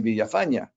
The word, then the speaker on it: Villafaña: said no no it's it's villafana in fact if you pronounce it in spanish it's it's villafana and i said uh